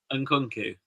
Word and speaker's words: Nkunku: Nkunku.